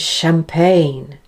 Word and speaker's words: champagne: attraction initial musician delicious less common is when it's spelt with the letters CH in words of French origin like machine and champagne and of course the French designer Chanel and then there's the word